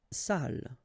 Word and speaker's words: salle: Salle. Une salle. Okay, so even if you get the double L here, it will be still the same pronunciation as this one.